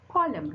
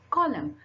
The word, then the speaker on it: column: Then you have column. Now let's again, I'm telling you, dam, autumn, hymn, column.